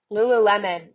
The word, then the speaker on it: Lululemon: Lulu Lulu lion how do you say it Lululemon yeah yeah yeah yeah they're like it's their